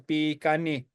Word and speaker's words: Bikani: So like, again, for example, the word that we call ourselves is Bikani. And a lot of people will spell it as BEE-GUN-KNEE. And so it's written, but it's just written really poorly.